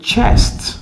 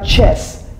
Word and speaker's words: chest: femme en fait c'est chest chest donc prononcer le T également ce n'est pas chess chess c'est un jeu ok chess c'est différent de chest ok chest il faut prononcer le T donc ça c'est chest